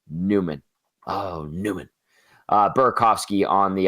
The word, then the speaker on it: Nyman: That's the way it's spelled, Nyman, but he's a Newman.